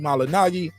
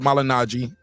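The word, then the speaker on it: Malignaggi: seriously he fired Paulie malinagi and it is not malinaji yeah I I we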